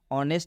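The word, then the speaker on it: honest: ऑनेस्ट में भी आप देख सकते हैं यहां पर हिंदी में भी ऑनेस्ट लिखा गया है। ह से उसका उच्चारण नहीं हो रहा है। क्यों नहीं हो रहा है? क्योंकि एच के बाद से ओ आएगा। जब भी एच के बाद से ओ आता है तो इस एच का उच्चारण नहीं करते हैं।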